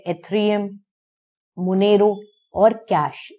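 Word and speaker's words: Zcash: Bitcoin है जैसे, जिसका नाम आपने सबसे ज्यादा सुना होगा, फिर है एथेरियम, मोनेरो और कैश। इसमें जेड जो है वो साइलेंट है।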